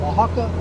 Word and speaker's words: Oaxaca: I think that's how you pronounce it, Oaxaca.